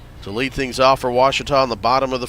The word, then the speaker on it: Ouachita: Back in Texas, everybody pronounces it Wichita, but really, it's Ouachita. Ouachita. Ouachita. How would you pronounce it? Ouachita.